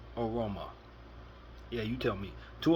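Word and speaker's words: Evbuomwan: Aroma, which is spelled E V B O E V B U O M W A N pronounced Aroma.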